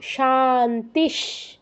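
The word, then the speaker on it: शान्तिः: মানে শুরুতে তালব্যস আছে তাহলে বিসর্গের জায়গায় আমাদের হসন্ত উচ্চারণ করতে হবে তাহলে কি হবে ওম শান্তিস তারপর পরেরটাও সেম শান্তিস এবার সবার শেষ যেই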